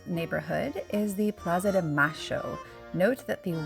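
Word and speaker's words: Mayo: in the Montserrat neighborhood is the Plaza de ma show note that the Y is pronounced as ash in Argentina this is a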